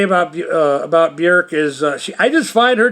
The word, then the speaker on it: Björk: But I was listening to a Björk CD that I have, Vespertine. I actually acquired this because some library decided to discard their copy, and I got it for $1 or less. Yeah. Björk, I'm saying it right now, even though for